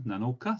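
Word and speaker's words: 七日: And then 7, Nanoka. So this sounds like Nana, the normal number for number 7.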